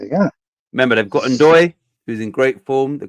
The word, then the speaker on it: Ndoye: But like I say, I've got Grealish and that is it Ndoye or Ndoye, whatever. Ndoye, I think it's pronounced. Yeah, I think Ndoye.